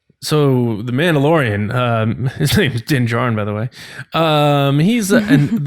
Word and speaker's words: Din Djarin: And he's like, is it pronounced Din Djarin? And I'm like, yeah, Din Djarin. So I just watched it again. He says Din Djarin, so that's my fault. Oh yeah. Yeah, Din Djarin.